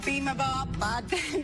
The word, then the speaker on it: bibimbap: Bibimbap.